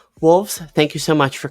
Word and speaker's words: wohlvs: it out loud is my name on screen right now that you're looking at like wolves like it's that's my